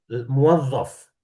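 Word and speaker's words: مُوَظَّف: Kalau pegawai tadi gimana Ustaz bacanya tuh? Muwazzaf.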